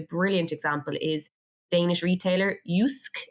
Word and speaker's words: Jysk: example is Danish retailer yusk is how you say it but it's JYSK H and I actually